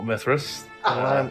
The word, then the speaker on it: Mithras: Well, Mithras. It rhymes with Pissrith.